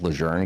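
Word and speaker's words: Lejeune: it's kind of like Camp Lun was like formerly renamed to Camp Leger cuz the family said that's the proper way to pronounce it. But Marines were like, "No, that. We've always known it as Ljun. We're going to keep calling it Lun."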